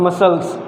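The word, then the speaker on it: muscles: हैं डेट इस called मसल्स तो इसमें हम लोग सीखो साइलेंट करते हैं यह ऐसा वर्ड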